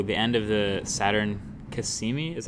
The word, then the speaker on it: Cassini: now yeah so the end of the Saturn Kissimmee is how you pronounce it Cassini mission where that that thing